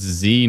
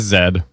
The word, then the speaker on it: Z: Moth says it's Z, not zed. Well, you might not be Canadian. Canadian is zed. We are part of the Commonwealth and therefore it is zed.